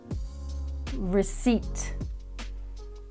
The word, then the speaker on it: receipt: these words after me and remember the p is silent pneumonia psychopath receipt raspberry and psoriasis next phrasal verb is a